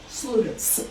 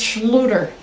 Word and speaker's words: Schluter: Sluter. It's Schluter. Schluter, spell it.